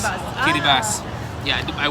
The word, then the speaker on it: Kiribati: It's spelled Kiribati, but It's Great pronounced Kiribati.